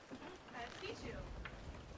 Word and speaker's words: Pichu: Corey, how do I pronounce your monkey's name? Pichu.